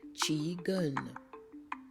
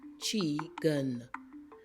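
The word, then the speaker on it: qigong: and it is pronounced chun chun the Q is pronounced like a CH so these are two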